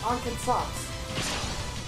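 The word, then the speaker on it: 暗剣殺: It's Ankensatsu. Yes, but I am filthy American, so I don't pronounce it as an American.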